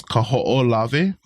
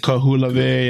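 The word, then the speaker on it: Kahoʻolawe: The longest one is probably the hardest one to pronounce is Kaho'olave. Kaho'olave. Kaho'olave. Yeah, and I hear so many weird pronunciations of this. Kahulave, yeah. Ku'ulavi, So Kaho'olave.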